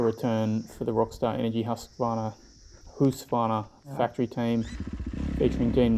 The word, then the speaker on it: Husqvarna: so rockstar energy husqvarna sorry who's finer that's the correct way to pronounce it i've been saying it